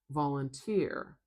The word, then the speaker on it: volunteer: Now I have a three syllable word here. One, two, three vowel sounds. So I know it's one, two, three syllables. which means I have to put in my primary stress marker. So volunteer volunteer I'm going to say the stress is at the end.